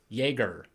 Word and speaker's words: Yagher: And she's like literally part of the family because she's married to Kevin Yagher.